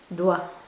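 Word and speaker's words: doigt: student by the way never pronounce the T at the end of the word d for finger don't just don't do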